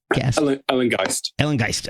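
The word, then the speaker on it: Ellengæst: I'm going to pronounce this wrong. Ellengeist. Ellengeist.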